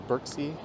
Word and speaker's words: Berczy: There's actually a bit of debate as to how you pronounce it, but I think just about everyone says Berczy. So whether that's the true intention on how it's to be pronounced, that's how people in the city actually say it.